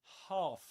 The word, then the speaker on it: half: Half. this long a sound.